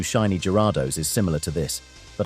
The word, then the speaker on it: Gyarados: Pretty much everyone who's really into Pokemon has that Lake of Rage Gyarados by now. It's Gyarados, dumbass, not Griados.